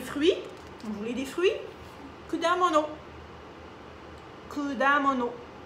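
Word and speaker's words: 果物: Vous pouvez prononcer aussi le ku. Il y en a, dans certaines régions, on dit kudamono, kudamono, kudamono. Mais ici, on dit kudamono, mais ku aussi, c'est pas vraiment une erreur parce que, bon, ils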